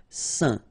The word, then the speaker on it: saint: Okay, combination of A, I, N phonetically will give you this un pronunciation. Saint.